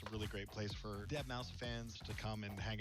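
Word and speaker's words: deadmau5: This is your good friend Joel, professionally known as Dead Mau 5. Yes, that is the correct way to pronounce it.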